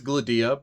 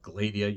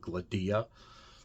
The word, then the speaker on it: Gladia: And it is Gladia by the way, in case you read these novels. Isaac Asimov does have a handy habit of telling you where the emphasis on a name is. Gladia, it is on the second syllable, the D. Instead of Gladia, you get Gladia.